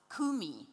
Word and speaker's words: Kumi: am KUMI. In Germany, where my mother is from, my surname is pronounced KUMI.